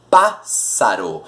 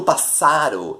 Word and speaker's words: pássaro: Eu digo pássaro. Eu não digo passaro, eu não digo passarô, eu digo pássaro.